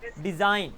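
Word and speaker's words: design: budget as easy PG कहीं पर भी आई जी एन मिल जाए किसी वर्ड में तो उसका मतलब होता है आइन जी वहां पर साइलेंट हो जाता है एग्जांपल्स साइन डिजाइन तो देखना डिजाइन में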